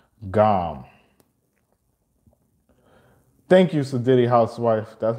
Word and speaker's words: GAM: The best way to contact Lord Ganesha is through the sound GAM. Thank you, Sadidi Housewife. That's how you spell it, G-A-M.